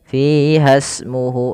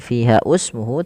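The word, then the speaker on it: فِيهَا اسْمُهُ: Fasmuhu ini bukan fiha usmuhu tapi langsung ke sin. Ini alif yang dianggap tidak kita baca.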